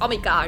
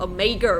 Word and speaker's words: Omega: Omega. I think it was Omega in German, but Omega in English.